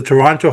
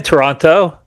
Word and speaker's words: Toronto: I'm in Toronto. Or we call it here Toronto, but the rest of the world calls it Toronto. Okay. The second T is silent.